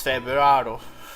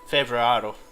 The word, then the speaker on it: Februaro: I don't know if I'm dropping the R's. Februaro. Like whenever it's the start of something, it's like, yeah, I can pronounce it with the swinging rolled R, but it's swinging Februaro.